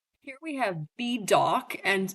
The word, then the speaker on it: B Dawk: Here we have B dock. And his name is spelled literally the letter B and then the word dock like hawk but with a D. So D A W K.